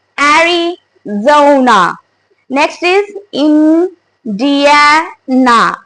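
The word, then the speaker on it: Arizona: वन इज एरिजोना एरी we have to से it like a buzzing sound here in जी सो इट्स एरिजोना next is Indiana we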